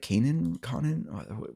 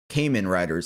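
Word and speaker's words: Kamen Rider: I You guys know I know nothing about the Kanan Conan. How do you say it? Collector. Okay. Well, there's Cayman riders. That's how you say.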